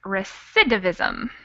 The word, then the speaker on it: recidivism: tough to say but it's recidivism with an accent on the second syllable all right any other